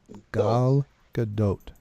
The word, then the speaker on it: Gal Gadot: Gal Gadot. That's how you say her name.